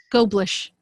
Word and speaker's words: Goblish: How do you say his name? Goblish. Like goldfish.